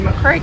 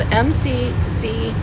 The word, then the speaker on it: McCreary: the Tennessee border, in McCreary County, Kentucky. And it's spelled M-C-C-R-E-A-R-Y. So a lot of people pronounce it McCreary County. But if you're from there, it's McCreary County.